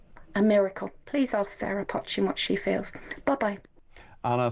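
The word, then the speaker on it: Pochin: Potchin is how you pronounce it. Potchin, like a poached egg, I've been told.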